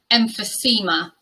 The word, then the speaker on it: emphysema: Another subscriber request, this word is pronounced emphysema.